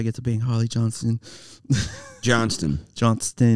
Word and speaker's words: Johnston: Johnston. Yeah, don't forget the T.